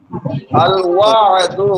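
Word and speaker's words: الوعد: আল ওয়াদু অঙ্গীকার করা, আল ওয়াদু অঙ্গীকার করা, আল ওয়াদু অঙ্গীকার করা, হুজুর এটা আল ওয়া আল ওয়া উ আল ওয়াদু আল ওয়াদু ওয়াদু অঙ্গীকার করা আল অঙ্গীকার করা, ওয়াদু ওয়াদু আইন উচ্চারণ করেন, অঙ্গীকার করা হ্যাঁ তারপরেরটা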